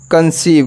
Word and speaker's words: conceive: कंसीव। क्या पढ़ेंगे? कंसीव। इसमें भी देख सकते हो ई हमारा क्या? साइलेंट है।